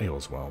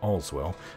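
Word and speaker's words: Aleswell: to all as well you would think it's pronounced ale as well but all's well north of the imperial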